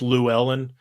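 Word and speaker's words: Llewelyn: Because like in No Country for Old Men, it's Llewellyn, but in this movie, it's Lewin.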